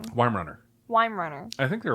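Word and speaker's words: Weimaraner: ways to pronounce it so I was pronouncing it wrong W Runner I said why Runner why why Mariner why Mariner is wronger why why Runner yeah W Runner uh and he got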